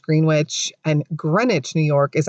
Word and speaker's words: Greenwich: all of the locals state that it is pronounced greenwich and greenwich new york is actually the village